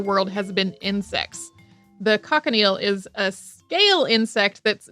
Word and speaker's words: cochineal: The cochineal is a scale insect that's native to Central and South America. Some people also pronounce it cochineal, and Europeans got their